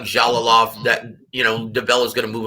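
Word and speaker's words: Jalolov: Wasn't it Jovalov or Javalov? Jalalov. It's pronounced Ja. Like the J. Jalalov.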